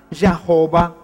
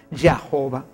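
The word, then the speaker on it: Jehová: del tetra grama y de la inserción de las de las vocales la y dejaron ahí no se puso porque para ellos la jota es una consonante por eso es que solamente se pusieron estas vocales y dio como resultado la palabra ya jova sin embargo cuando ellos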